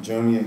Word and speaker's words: Junya: My name is Junya. That's how you say it, Junya.